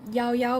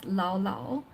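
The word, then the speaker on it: Llao Llao: towards the yogurt shop which is called yao yao because it's Double L and it's Spanish which he mispronounces and calls Lao Lao and um he let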